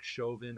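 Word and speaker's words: Chauvin: are in terms of derek chovin i i guess that's how you say it c-h-a-u-v-i-n sounds francis um so derek chovin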